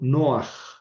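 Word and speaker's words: נֹחַ: Y ahí está el pataj furtivo. Noaj.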